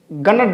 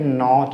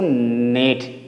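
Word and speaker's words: gnat: यानी कि जी का उच्चारण नहीं करेंगे। इसी प्रकार इसको बहुत सारे बच्चे गणट बोलते हैं। गण लेकिन वो गलत है। ये क्या है? ये नॉट नेड बोलेंगे इसको। इसको क्या बोलेंगे इसको? नेट।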